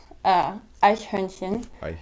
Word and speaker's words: Eichhörnchen: Eichhörnchen. And it's Eichhörnchen. And but that word is so hard to pronounce when you're first studying it, so it sounds like Eichhörnchen.